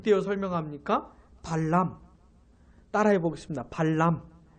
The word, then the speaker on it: 발람: 및 떼어 설명 합니까 발람 따라해 보겠습니다 팔람 발음을 잘 하셔야 되요 발람 왜냐하면 발락 보안도 있기 때문에 이 발라 광이 발람